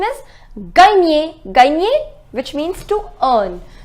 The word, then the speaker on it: gagner: The pronunciation is gagner.